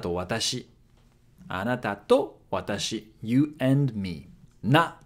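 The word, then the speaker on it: な: Na. Na is pronounced like na in nachos.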